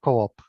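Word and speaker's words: Coop: in sweden or yeah in sweden we say coup but i know that many others say co-op yeah yeah so i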